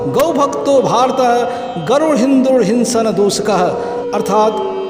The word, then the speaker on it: हिंदू: फारसी भाषा बोलते थे जिसमें स अक्षर का उच्चारण ह होता था। इसी कारण सिंधु को हिंदू कहा जाने लगा और कालांतर में सिंधु क्षेत्र में बसने वाले लोगों के लिए हिंदू शब्द और वहाँ के